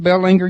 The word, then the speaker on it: Belanger: This is Royce, and you're talking to Royce, and Belanger's with me. Is that pronounced Belanger? I pronounce it Belanger, but just don't call me late for dinner.